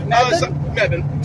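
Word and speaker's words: Mebane: How how do you pronounce the town? Mebban. Some people I thought I I was reading it like mine maybe.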